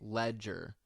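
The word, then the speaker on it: Legere: Oh, okay, Ledger, like Heath, or a newspaper, whatever, it's irrelevant anyway.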